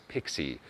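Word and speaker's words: PKCE: gonna use pixie magic proof key for code exchange pronounced as pixie is an RFC extension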